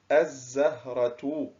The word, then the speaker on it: الزهرة: الزهرة. عندما ننتبه إلى هذه الكلمة نجد أن اللام كتبت ولم تنطق، إذن فهي لام، أحسنت، لام شمسية.